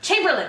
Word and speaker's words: Chamberlain: gosh I don't remember Chamberlain Chamberlain thank you I know it was he was just like Mario earlier in the episode that was great it was three syllables in British I just didn't remember